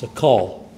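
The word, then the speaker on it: שָׂכַל: word fool here and the Hebrew word that we have there is pronounced sakal and in this his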